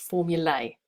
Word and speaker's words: formulae: The plural in Latin is with AE and it's pronounced formulae.